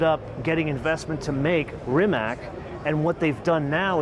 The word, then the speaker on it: Rimac: speak the language it's rimack I would say in English yeah but most people would say remats okay so that's more kind of European pronunciation from what I understand